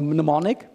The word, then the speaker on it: mnemonic: that but it's called mnemonic and the mnemonic mnemonic mnemonic mnemonic the M silent yeah I don't know